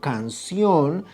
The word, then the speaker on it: canción: So the word canción carries acento because, first of all, it's a palabra aguda, meaning that carries the acento in the last syllable.